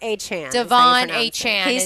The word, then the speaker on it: Achane: Devon A-Chan. is how you Devon pronounce it. A-Chan. He is- said that's how he wanted it pronounced.